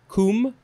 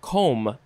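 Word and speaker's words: combe: noun next we have i think you could pronounce it either kum or com c-o-m-b-e uh or or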